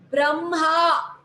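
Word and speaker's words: ब्रह्म: Some pronounce it as im first and then ha, only for these last letters of any series. They alone, then this is pronounced as imha, brahma. So im is pronounced first, brahma.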